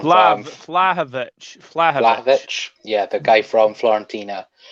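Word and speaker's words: Vlahović: Vahalvik, is that how you pronounce it? Is that the Serbian lad? Yeah, from Vlahovic.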